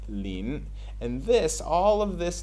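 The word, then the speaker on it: 林: take the other character which is pronounced lean and this all of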